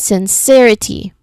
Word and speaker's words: sincerity: So we try to um apply the rule first um third from the end first syllable t second syllable re and third syllable s c again c. So we see it as sincerity.